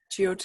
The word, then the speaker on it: Jyotish: So I know you do, and I'm going to try to pronounce this, but is it Jyotish or Jyotish? Yes, Jyotish, you got it right.